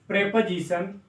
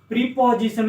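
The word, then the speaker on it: preposition: Silent हो जाएगा, verb, प्रेपोजिशन, प्रीपोजिशन नहीं बोलते हैं, प्रेपोजिशन, प्रेपोजिशन, कंजंक्शन और इंटरजेक्शन।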